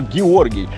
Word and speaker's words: Georgi: And here is George, or Georgi. This is more native pronunciation for me.